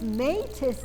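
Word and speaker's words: μῆτις: And they say, if metis is killing you, shut up and go back to sleep. Here's the joke. The word, if you put those two syllables together and make them one word, it's metis, and it means craft, trickery, cleverness, cunning.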